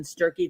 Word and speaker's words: Sturkey: We love Sturkey that rhymes with turkey.